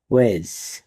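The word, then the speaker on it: wedge: ডাব্লিউ ই ডি জি ই ওয়েজ। এখানেও ডি লেটারটি silent থাকবে, কারণ ডি এর পরে জিই আছে।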